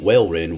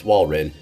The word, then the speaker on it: Walrein: correctly for some reason i was saying whale wren when it's walrin so uh there you